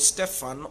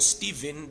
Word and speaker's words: Stephen: explains to us concerning a man called stefan or stephen depending with how you want to pronounce it but stefan is the right word and how he was